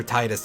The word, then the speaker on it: Tidus: Tidus or Titus, depending on the pronunciation.